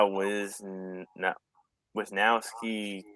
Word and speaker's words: Wisniewski: Center 7 Wiz Neos a Wisniewski he pronounced a weird way I think though yeah was no with now ski yes it's he doesn't pronounce it like it's spelled to a one-year contract